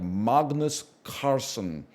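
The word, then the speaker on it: Carlsen: you know I it's it's a soft L he that's how he pronounces it in the original Norwegian it's more like Magnus Carson I turned it I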